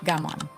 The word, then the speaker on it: gaman: It is called gaman, pronounced gaman.